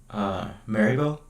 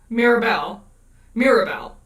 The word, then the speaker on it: Mirabel: Maribel. Who's... Maribel? Oh. Am I saying her name wrong? From Encanto. Yeah. Encanto. Mirabelle. Yeah, Mirabel. Yeah. Maribel. I think you got the A and the I mixed up.